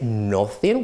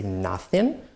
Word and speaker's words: nothing: right same pronunciation nothing right we don't say nothing we say nothing none we don't say